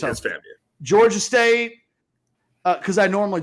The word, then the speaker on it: FAMU: I just didn't say it like that. You just said every letter. I said FAMU, but yes, FAMU. It's FAMU.